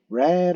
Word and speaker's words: read: I recently read an article. 자, 여기서는 과거 시제예요. 이렇게 되겠죠. 발음 기호가 red라고 얘기를 합니다. 빨간색하고 똑같이 여러분들 읽으시면 돼요.